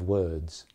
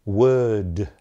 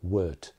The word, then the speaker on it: word: So for instance, you wouldn't say word. It's not a real d at the end there. It's just a slightly pronounced d, word. Word, but it's definitely not a t, it's definitely not word. So word.